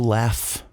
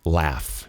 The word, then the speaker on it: laugh: Olha a pronúncia do laugh. Laugh. Laugh. E não é esse lá. É mais pro E. Laugh. Laugh. O britânico que fala laugh. Laugh. Mais aberto mesmo.